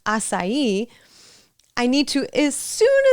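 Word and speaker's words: açaí: So like my example, if I learned aai instead of asai, I need to as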